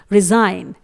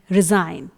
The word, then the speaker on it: resign: If there is G before N then later G रिमेन silent, यानी कि यदि किसी वर्ड में G N से पहले आया हुआ है तो वहां पर हम G को साइलेंट रखते हैं, यानी G लेटर को प्रोनाउंस नहीं किया जाएगा। एग्जाम्पल में देखते हैं। पहला वर्ड रिजाइन, RESIGN, रिजाइन। दोस्तों इस वर्ड में आप जो ज का साउंड सुन रहे हैं वो S का साउंड है, ना कि G का,